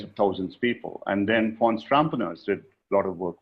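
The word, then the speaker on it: Fons Trompenaars: almost several tens of thousands people and then Fon Strampeners did a lot of work with Shell. There's a very famous and there's a YouTube um uh video of Fon it's pronounced as F O Ns Trumpars.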